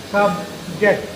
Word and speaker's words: subject: When this is disyllabic, subject. Now this is noun here. So this is stress is on the first syllable. Subject. Physics is an interesting subject. We pronounce it as subject.